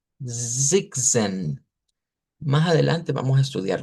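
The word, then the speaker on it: sechzehn: Y luego el 16 que se pronuncia como Zigzen, Zigzen.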